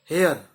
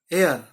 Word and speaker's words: heir: वारिस, हेयर, एयर, तो ये HEIR, एयर, एयर। मैंने पहले हेयर बोला ताकि आप लोगों को स्पेलिंग क्लियर हो, लेकिन वारिस है तो उसे कहेंगे एयर। और एयरस, HEIRESS, एयरस।